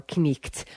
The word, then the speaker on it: knight: though in Middle English, Chaucer would have rolled his R's and pronounced both elements of consonant combinations, such as the K, N in an old word like knight or knicht or night.